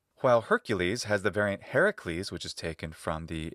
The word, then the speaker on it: Heracles: That's why it's not Heracles, but Heracles, even though the accent's on the last syllable, because we follow the stress accent pattern influenced by the stress accent rules of Latin.